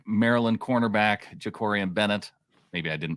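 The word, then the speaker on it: Jakorian: do wonder what a player like Maryland cornerback jakori and Bennett maybe I didn't pronounce his first name correct no you got it you nailed it uh Jacory and Bennett uh he was the next fastest at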